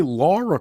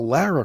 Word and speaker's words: Lara: even know her name most people say Laura Croft instead of Lara Croft like they're not even saying her name correctly she can't be that